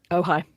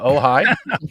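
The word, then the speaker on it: Ojai: church of OJ is that really how it's pronounced OJ in California ohigh that's pretty oh is it ohigh is it OJ AI yeah that's yeah that's oh Eric actually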